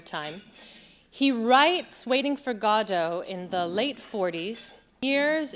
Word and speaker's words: Godot: though because of course in French you emphasize both of the syllables but once you change it into English you have to question are you gonna say Godot or Gordo it's a long and